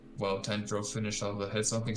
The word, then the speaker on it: Tanjiro: It's because Inosuke pronounces his name wrong yet again. He called him Santaro?